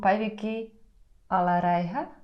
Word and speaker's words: Päivikki Alaräihä: Hello to Päivikki Alaräihä.